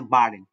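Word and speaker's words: Baden: দেওয়া আছে যেমন হচ্ছে বার্ডেন এই বিটা হচ্ছে শব্দের শুরুতে আছে যার কারণে ব এর মত উচ্চারিত হয়েছে বার্ডেন আর এই এখানে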